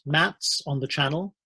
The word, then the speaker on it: MATZ: military aerodrome traffic zone it's pronounced mats on the channel it's